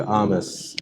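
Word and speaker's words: Hermès: Okay, this is Armas. Okay, Armas. Armas. Yeah, Armas. হ্যাঁ, Is this the spelling? yeah, There is a D. হ্যাঁ। বাট Okay, এটাকে pronounce করে এইভাবে আর্মাস। Armas.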